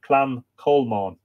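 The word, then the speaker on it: Clann Cholmáin: So you look and you go, the Clan Colmain, and the pronunciation is here, Clan Colmon.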